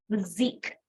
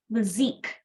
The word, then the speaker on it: physique: stronger Gene tone physique this word is pronounced as the zik not physics okay the Zeke so what is the